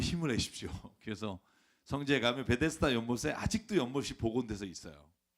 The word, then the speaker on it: 베데스다: 여러분 오늘 주인공은요 베데스다 그런데 사실이 베드 자다라고이 원래 원래 발음이 이렇다고 해서 세부적인 번역을 이렇게 했는데 저는 낯설어요 베데스다라고 할게요 베데스다 연못이라는 곳이 있어요 여러분